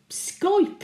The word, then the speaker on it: Skype: Skype, indeed. Rhymes with tripe.